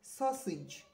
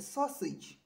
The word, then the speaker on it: sausage: it is not sausage but please it is sausage it is what sausage it is sausage a sausage can you get